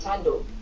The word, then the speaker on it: Tando: You know the interview with Slicker, where she's like, my name is Tando, and then she's like, but the is silent. So it's just Tando. Yes, it was just Tando.